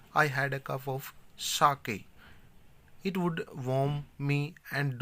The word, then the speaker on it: sake: Sa is pronounced like fa in father, यानी कि sa means